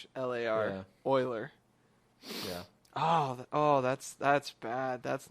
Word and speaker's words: Euler: physicist at math yeah how would you say that Euler e EU le le all right his official name was Euler that's the proper pronunciation oh no is it